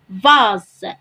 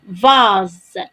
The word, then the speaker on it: vase: إذن عندما نجد الحرف S مع الحرف E ومسبوقا بحرف متحرك آخر كما هو الحال هنا في هذا المثال فإننا نقرأه أو ننطقه زاد كما هو الحال في المثال الذي هو أمامنا. فنقرأ هنا vase. vase.